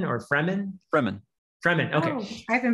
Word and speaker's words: Fremen: I've never heard these pronounced, but is it Freeman or Fremen? Fremen. Fremen, okay. Oh, I've been pronouncing it wrong in my head.